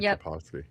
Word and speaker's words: Tarkovsky: Tarkovsky? Yeah, Andrei Tarkovsky.